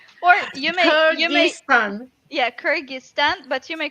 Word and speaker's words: Kyrgyzstan: pronouncing the country i mean i i i pronounce it as uh kajista it's kyrgyzstan or you mean yeah kyrgyzstan but you may call it kyrgyz republic cookies